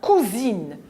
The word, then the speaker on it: cousine: S entre la voyelle U et la voyelle I se prononce ZE.